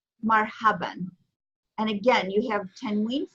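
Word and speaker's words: مرحباً: In general conversation, typically you'll say marhaba, but in classical Arabic, it's actually pronounced marhaban, marhaban.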